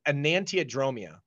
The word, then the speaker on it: enantiodromia: And it's actually phonetically spelled exactly as a, so the word is enantiodromia.